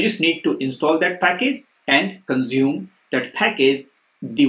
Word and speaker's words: Packj: In this video, we are going to learn a very popular open source package named Packj. It's actually called Package, but it's spelled as Packj.